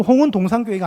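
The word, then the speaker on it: 홍은동산교회: 되잖아요 제가 홍은동 이니까 홍은 한번 쉬고 동산 교회로 읽어야 되는데 홍은동 산교회 아 아니구나 홍은동 교회가 아니겠네 그래서 제가 다시 읽은게 아 홍은 동산교회 그런데 여러분 설립자 목사님이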